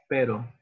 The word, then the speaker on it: pero: And now try to make it a little softer and say pero. Pero. It's not like English r, but you say it with r.